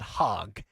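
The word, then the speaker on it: Hogg: Phil, by the way, is it Hogue or is it hog? It's spelled Hog.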